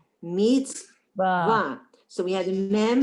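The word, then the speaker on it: מִצְוָה: That's a silent shva. Meets. Meets wrote. No, it's not. A resh is wider. It's a vav. Meets. It's a V sound. Ra. Or va. Meets va. Mitzvah. Mitzvah. Mitzvah.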